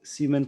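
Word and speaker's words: siemens: एम एच ओ मो या इसे एक और नाम देते हैं सीमेन। इसे सीमेन प्रोनाउंस करते हैं।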